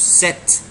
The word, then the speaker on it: cet: We can't say ce followed by a vowel. It will be a problem when you pronounce ce followed by a vowel. So you need to put a consonant in between to separate the two sounds.